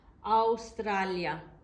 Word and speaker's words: Australia: look at this word even though it's spelt the same way as in english in italian you say australia australia aroma rome is a